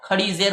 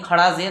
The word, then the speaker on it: کھڑی زیر: اس کے مناسبت سے ہم اس کو کھڑی زیر پڑھیں گے، کھڑا زیر نہیں پڑھیں گے۔ اس لیے آپ دیکھیے